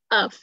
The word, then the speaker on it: of: Consist of. Consist of. Nó là chữ F ở đây đọc là chữ V nha. Of. Còn nếu là of thì nó phải là double F mới đọc là of.